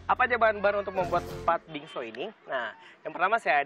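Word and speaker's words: 팥빙수: yaitu pat Bing bukan pat bingsu Sip Kalau bahasa Korea kat pat bingso pat bingso bacanya Oh pat bingso bacanya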